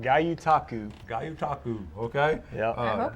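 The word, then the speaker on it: gyotaku: Tell us again how to pronounce it, first of all, Travis. It's called Gayutaku.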